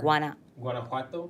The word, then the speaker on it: Guanajuato: Guanajuato.